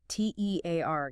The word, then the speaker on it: tear: T E A R gives us tear rhyming with here or fear.